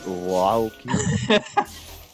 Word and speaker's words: Earleking: It's actually French. It's Earleking.